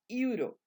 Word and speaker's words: euro: vocal, pero que u, en este caso la e y la u se van a pronunciar como you, y entonces no le vamos a poner la n al artículo indeterminado a. Sería a euro, a euro, a euro.